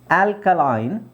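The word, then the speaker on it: alkaline: ಎರಡು ತರ ಉಚ್ಚಾರಣೆ ಬರುತ್ತೆ ಇಲ್ಲಿ ಆಲ್ಕಲಿನ್ ಸಾರಿ ಆಲ್ಕಲೈನ್ ಅಂತ ಇರೋದು ಇಲ್ಲಿ ಆಲ್ಕಲಿನ್ ಅಂತನು ಹೇಳ್ತಾರೆ ಎರಡು ತರದ ಉಚ್ಚಾರಣೆ ಇದೆ ಓಕೆ ಸೋ ಅದು ಬ್ರಿಟಿಷ್ ಮತ್ತೆ ಅಮೆರಿಕನ್ ಪ್ರೊನನ್ಸಿಯೇಷನ್ ಮೇಲೆ ಡಿಪೆಂಡ್ ಆಗುತ್ತೆ ಕೆಲವರು ಬ್ರಿಟಿಷ್ ಇದನ್ನ ಆಲ್ಕಲಾಯಿನ್ ಅಂತಾರೆ ಇದು ಅಮೆರಿಕನ್ಸ್ ಆಲ್ಕಲಿನ್ ಅಂತಾರೆ ಹಾಗೆ ಅದನ್ನೇ ಅಮೆರಿಕನ್ಸ್ ಕೆಲವರು ಆಲ್ಕಲೈನ್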